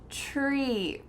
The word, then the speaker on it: tree: Tree. For the second word, we're not using a TH sound. It's just TR.